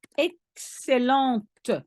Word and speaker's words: excellente: It's excellente. And you have to put an E at the end of excellent, which means that you pronounce the T.